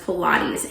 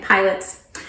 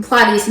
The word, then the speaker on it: Pilates: They were pronouncing it pilots.